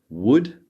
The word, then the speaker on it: would: these properly we have would could and should so as you can see these L's need to be silent would could and should